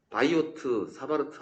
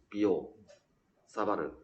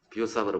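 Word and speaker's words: Biot–Savart: 그래서 이 사람들 같은 경우는, 이 비오 샤바르, 바이오트 사바르트 아닙니다. 프랑스 사람이라서 비오 사바르. 프랑스어는 T자를 묵음 처리한답니다. 비오 사바르 법칙을 하고, 그래서 이 사람들은 한 게 뭐냐?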